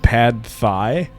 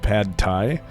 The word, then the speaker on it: pad thai: restaurant, but he would pronounce it pad thigh instead of pad thai and see if his date corrected him.